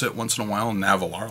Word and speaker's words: Nahvalur: pen stuff so but they said that they're still pronouncing it narwhal hmm so let me try that um navalar my name's so